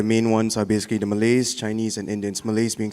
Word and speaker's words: Malay: Is it Malay or Malay? Malay. Malay. Yeah, just like how we pronounce the country.